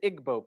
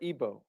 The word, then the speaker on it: Igbo: Another area in Africa, you have uh something big happening is in Nigeria, you have the Igbo people or Ibo, pronounced either way.